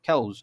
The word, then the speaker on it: chaos: আর না হলে chaos, কয় ক দিয়ে জফলা আকার ও দন্ত স, খ্যাউজ। ওকে? আর সি এর উচ্চারণটা একটু ক্ষয়ের মতো হয় ইংলিশে, সেজন্য আমরা খ্যাউজ বলছি, ক্যাউজ না বলে।